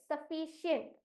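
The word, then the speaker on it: sufficient: अब एंड the right answer is option A सफिशिएंट अब अगला राउंड है स्पेलिंग राउंड आपके स्क्रीन पर आपका पहला प्रश्न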